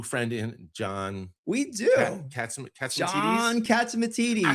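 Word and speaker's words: John Catsimatidis: John Katzimatidis.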